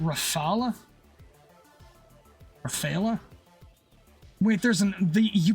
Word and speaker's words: Rafale: Rafala pronounced Rafala. Rafalea. Wait, there's an the you pronounce No, I'm pretty sure in French we're not supposed to pronounce the E at the end.